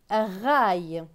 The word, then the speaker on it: raille: R avec A-I-L. A-I-L se prononce aïe. Donc R et aïe, raille.